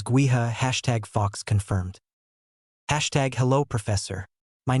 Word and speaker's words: Gowith: Gowith is Gaelic and means wind. Yes, the pronunciation is gua #fox confirmed.